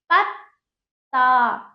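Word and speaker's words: पत्ता: आधा त फिर थर यहां पे देखिए प प्लस त प्लस ता पत ता बोलिए पत ता देखिए पूरे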